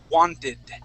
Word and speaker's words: wanted: rules here okay um when you have a word that ends with a T okay and uh and then you put an an ed at the end that's when you can say wanted okay try that want exactly